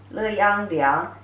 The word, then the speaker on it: 良: The pronunciation is exactly the same as 良, 乐安良.